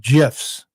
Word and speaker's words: GIF: No, the guy who created GIFs, which we all thought it was GIFs because nobody knew how to say it, right? And then they interviewed him and he said, "Well, to be truthful. It's the G is soft like the peanut butter. It's GIFs."